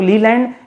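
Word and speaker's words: Leyland: का नाम सुना होगा, अशोक लीलैंड या फिर अशोक लेलैंड का नाम सुना होगा, एक ही बात है, लीलैंड लेलैंड, प्रोनाउंसिएशन अपना अपना है।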